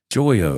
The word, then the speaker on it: Joyo: Curtis, he goes, "Uh, Marty 5150 pronounces it with the emphasis on the joy." Joyo.